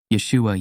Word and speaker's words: Yeshua: video pronunciation of Yeshua in Hebrew and Aramaic Yeshua Yesa pronunciation of isus in Greek Yus Yus pronunciation